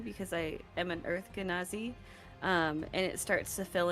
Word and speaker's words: Genasi: pronounced it exactly perfect It's for me. Genasi. Yeah. It's Genasi.